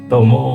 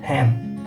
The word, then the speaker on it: 伴: It is tomo now here, but if this combined with anything else, it will read hand.